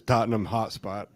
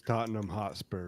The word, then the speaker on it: Tottenham Hotspur: one i've got is tottenham hotspot the wi-fi is good there right here you know you know that it's tottenham hotspur right i always know every time i say it i say it wrong and my one buddy